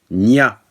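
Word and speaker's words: niwt: Et il se prononce Nia, comme vous pouvez le voir ici.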